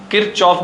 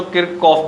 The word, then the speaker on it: Kirchhoff: किरचॉफ भी बोल सकते हैं बच्चों, किरकॉफ भी बोल सकते हैं, स्पेलिंग अभी मैं लिखूंगा ही सही बोर्ड पे।